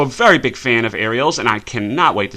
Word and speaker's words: Ariel: It's pronounced Ariel.